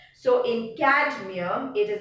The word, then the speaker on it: cadmium: Can you pronounce cadmium without saying the D? A is there, but the D is more pronounced, cadmium. Without the D, you will not be able to move to the next syllable.